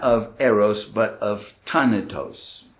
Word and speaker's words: Thanatos: of eros but of tanatos is that how you pronounce it in german would be ton of those but in english we say than it does right now you know